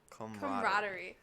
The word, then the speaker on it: camaraderie: Camaraderie.